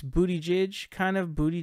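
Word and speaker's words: Buttigieg: as it is because it's basically spelled booty judge and that's almost how it's pronounced really it's booty J kind of booty J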